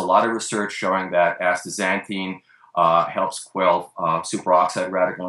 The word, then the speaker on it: astaxanthin: to let you know the x in the middle of the english word is pronounced as a z uh not as an